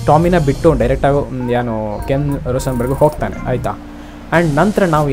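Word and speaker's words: Rosenberg: Tommy escape ಆಗಿ ಡೈರೆಕ್ಟಾಗಿ ನಮ್ಮ ಟಾಮಿ ಮತ್ತು Ken Roshan burg, okay, ರೋಸನ್ burg ಅಂತ ಅವನ ಹೆಸರು, ಸ್ವಲ್ಪ ಉಚ್ಚಾರ ಆಚೆಚೆ ಆಗ್ಬೋದು, ತೊಂದರೆ ಇಲ್ಲ.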